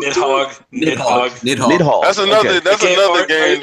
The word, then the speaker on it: Nidhogg: Nighty Hog. How do you pronounce Nighty Hog? Nidhogg.